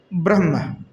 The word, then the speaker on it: ब्रह्म: जैसे हम कहते हैं कि ब्रह्म, कहते हैं ब्रह्म, तो ब्रह्म शब्द कहेंगे तो उसमें ब्राह्म, तो ब्रा के बाद ह आता है, उसके बाद म आता है।